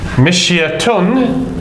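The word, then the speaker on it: مشية: Mishyatun, if we pronounce it completely with the dhamma or tanweenu dhammin on the end, it becomes mishyatun.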